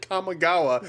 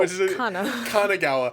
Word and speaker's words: Kanagawa: I thought you said Kamigawa. No, Kanagawa.